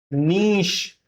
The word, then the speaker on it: niche: यह वर्ड ना तो नीचे है ना यह नीच है। ठीक है? तो बताइए इसका प्रोनंसिएशन क्या हो सकता है? What could be the pronunciation of this word? Okay I will help you the pronunciation of this word is नीश श साउंड के साथ में नीश तो इसका प्रोनंसिएशन हो